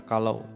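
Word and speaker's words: כלה: perempuan atau mempelai wanita dalam bahasa Ibrani disebut kalah ya bacanya kalau yang artinya mempelai wanita dan menantu wanita Nah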